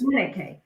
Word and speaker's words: Chineke: masculine and feminine energy, which is Chineke. Is that how we're pronouncing that? That's correct, yes. Chineke.